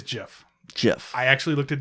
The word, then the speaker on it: GIF: It is spelled GIF. The proper way is GIF.